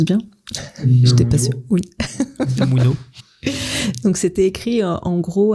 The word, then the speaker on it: Unamuno: C'est ça, je prononce bien? J'étais pas sûre. Oui. Unamuno.